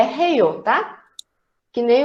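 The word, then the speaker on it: 해요: Não, é heio. Depende também da forma que a pessoa vai pronunciar.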